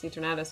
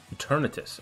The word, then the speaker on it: Eternatus: Oh, yeah, I didn't even notice Eternatus is red and blue. Eternatus. I don't know why you say Eternatus. It like... I don't know why you say it like Eternatus.